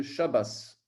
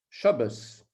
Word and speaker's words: Shabbos: D'ailleurs, c'est pour ça que dans certaines synagogues, on dit le Shabbos. Shabbos. Le Shabbat, en fait, il se prononce avec un S à la fin, quoi.